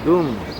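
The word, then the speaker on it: ГУМ: It's outside, street outside Goom. Gum's department store. It's pronounced Goom though, isn't it? Goom, like in loom? No, gum. We say gum and they say goom.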